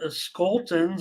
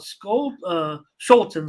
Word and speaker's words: Scholtens: the White Sox and Skoltens. I know a little bit about Scholtens, I should say, I think is how it's pronounced.